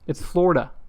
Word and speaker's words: Florida: It's a long O. It's Florida.